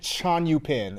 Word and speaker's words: Tjon-Joe-Pin: The name is a Chinese name, but it's a Dutch spelling of a Chinese name. So it said Tjon-Joe-Pin is how you say it.